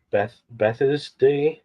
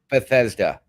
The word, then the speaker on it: Bethesda: I can never pronounce it. You told me the other day, and I still can't do it. Bethesda. Bethesda. Bethesda.